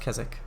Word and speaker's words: Keswick: Also, yeah, it is pronounced Keswick.